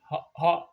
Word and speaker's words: Hoag: Hoag. Hoag. If there's no A, it would be Hog, but I guess this A is silent.